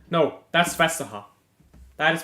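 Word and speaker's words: Vestergaard: expect it to pronounce it right no that's fesa that is pronounced fesa yeah half of the letter audence pronounced in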